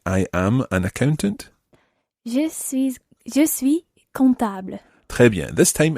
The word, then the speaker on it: je suis: Je suis comptable. Très bien. This time it's je suis. You don't pronounce the last S of je suis ingénieur, je suis étudiante. You would say here, je suis comptable.